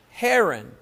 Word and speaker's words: Haran: Haran. Who is Haran? All you who are ignoring me. Who is Haran? Sister Helen. rhymes with heron.